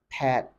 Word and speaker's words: Pat: Pat simply there's no there's little to know distinction between the name Pat and the word part in Nigerian English now when it comes to British and American English you realize that there is a certain level of degree of openness in pronouncing Pat in British English Pat in American English it's simply Pat it's open but it's